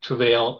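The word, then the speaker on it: Trouvaille: our website it's a travail uh so it's actually uh t r o u v a i l l e it's a French word so you actually pronounce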